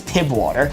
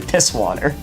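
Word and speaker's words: Pißwasser: People pronounce it as PIB water. That's not what it is. A German STE is two S's, so it's actually piss water.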